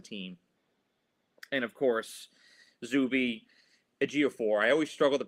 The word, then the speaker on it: Ejiofor: And of course, Zuby Ejiofor. I always struggle to pronounce his name. Ejiofor.